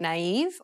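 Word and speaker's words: naïve: impact the letters directly the diarise signifies that one should pronounce the vowel separately from the preceding vowel that is to say that you should not combine the two vowels together instead you should pronounce them in separate syllables this can be seen in words like naive or noel listen to the example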